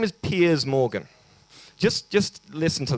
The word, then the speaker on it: Piers: front that is correct um his name is Piers Morgan just just listen to that name Piers Morgan Piers morgue Piers Morgan what's your name it's pears it's pian's what's your name that's how you pronounce his name you may know who he